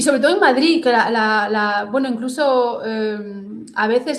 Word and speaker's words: Madrid: Por ejemplo, Madrid. Madrid. Madrid. No es Madrid, es Madrid. Sí. Tú tú, ¿cómo pronuncias? Madrid. Ah, con Z. Sí, las tres. Yo también. Madrid. Madrid. Bueno, según yo es una D, pero claro, una puede ser una D bloqueada o a veces también hay gente que pronuncia una Z.